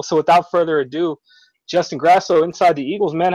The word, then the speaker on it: Grasso: I was told it's pronounced Grasso, so that's what I stick with. Yeah, I always figure I've known people with the the two S's and the O, and usually the A is pronounced a little bit differently.